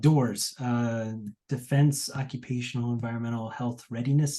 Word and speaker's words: DOEHRS: DOORS is how it's pronounced.